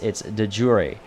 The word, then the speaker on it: de jure: looking up its etymology, it actually never went through French. It went straight from Latin into English, which is why it holds on to a more Latin English pronunciation as opposed to a Latin French English, which is what many words are in English.